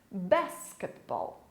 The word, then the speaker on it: basketball: Você pode perceber que a sílaba mais forte é no início da palavra, diferente da língua portuguesa. Basketball, ok?